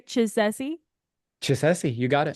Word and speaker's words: Chisesi: say it right did I say it right chessi chessi you got it chessi score for me okay rock cool so tell